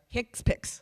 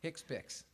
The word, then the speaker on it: HCPCS: final value next slide is this hcpcs how do you pronounce that hicks pics hicks picks can you tell us